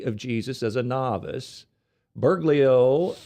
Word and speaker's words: Bergoglio: Bergoglio said as a young seminarian that he had